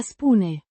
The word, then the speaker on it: spun: Spoon, the first person singular present indicative form of the verb a spoon. To say or tell, pronounced spoon. The oo is pronounced like the oo in moon.